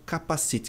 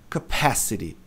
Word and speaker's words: capacity: um som de i, pronunciam capacite, que parece aquela coisa que você põe na cabeça para andar de moto. É, ou não é? Então, não é capacity, a pronúncia correta é capacity. A tônica tá aqui, olha lá, tá em